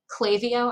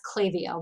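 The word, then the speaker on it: Klaviyo: products um i recommend clavio i think that's how they pronounce it k-l-a-v-i-y-o i think it's that's clavio but i'm not 100 sure they have like a funny way of pronouncing it um so are you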